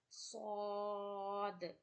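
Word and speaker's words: ص: Sod with a thick voice.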